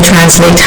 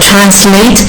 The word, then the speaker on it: translate: واقع این دفینیشن کلمه translate هستش. فقط حواسمون باشه این کلمه دو تا تلفظ داره، translate که بریتیش هستش و translate در واقع اون اسش صدای زی میده که امریکن هستش.